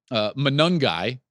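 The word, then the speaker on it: Monangai: but they did allow Kyle um manungi is how you pronounce Ruckers running back Kyle manangi he ran for 1332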